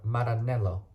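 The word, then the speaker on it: Maranello: uh so it's near the Italian town of Marinello Mar maranelo there we go in Italy under F under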